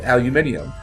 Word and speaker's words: aluminium: And that's how anybody that's not American pronounces it, too. It's aluminium.